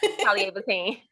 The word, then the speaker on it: Calleea'Vatein: Calleea'Vatein. Bateen. Vatine. Batink. Yeah. So think about, like, my grandmother's name is Ernestine. Everybody call her Auntie Teen. Teen.